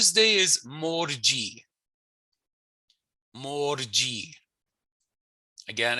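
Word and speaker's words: mars: March is mar. Mar. So the AW is telling me that it's a long drawn out sound, right?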